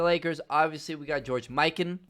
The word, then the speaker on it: Mikan: obviously we got george miken not mccann my bad uh i